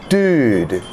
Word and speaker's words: dude: Okay, so let's start with dude. D-ood, dude. Dude, what's up?